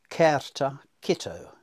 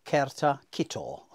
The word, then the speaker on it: certa cito: But what annoyed me was Paul Martin's pronunciation of this Latin motto, which I would pronounce certa cito, or certa cito, to be more precise.